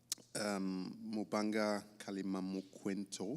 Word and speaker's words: Mubanga Kalimamukwento: Mubanga Kalimamukwento. It took me a while to learn how to pronounce that.